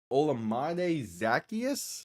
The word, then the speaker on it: Olamide Zaccheaus: And that is the former Commander, the former Eagle, Olamide Zaccheaus, I believe is how you pronounce it.